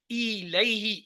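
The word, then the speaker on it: إليه: یہ لفظ جیسے انگلش کا ای ہوتا ہے نا، اس کا پرونانسیشن ای سے ہے. الیہ، ای فار ایگ، تو وہی ای سے الیہم ان کی طرف.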